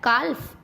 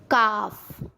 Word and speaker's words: calf: एफ से पहले, अब ये मैंने एफ भी बताया था ना, एफ से पहले जैसे CALF काल्फ, नो नो नो। काफ, हाल्फ, नहीं नहीं नहीं, हाफ।